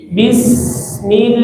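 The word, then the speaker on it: بسم: Bi, jangan B, awas ya, jangan mirip B, tapi bi. Bismil, jangan mil, bismil.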